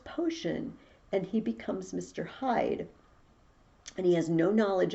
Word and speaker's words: Hyde: because it's him dr hyde it's spelled h-y-d-e but it's the part of himself he wants to hide away hide from the